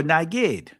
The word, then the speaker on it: nagid: So you see naged or nagid that's the Israeli pronunciation of this but we see a commander civil military or religious.